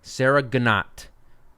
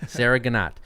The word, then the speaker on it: Sarah Ganat: asked her how to pronounce her name, and she told me Sarah Ganat. I hope I got that right. She fucking phonetically spelled it out. Sarah Ganat.